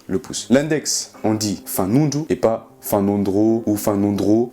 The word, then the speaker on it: fanondro: on peut prononcer le H, mais là, on prononce pas le H, inkibé, qui veut dire le pouce. L'index, on dit fanundu et pas fanondro ou fanondro, F-A-N-O-N-D-R-O, fanundru.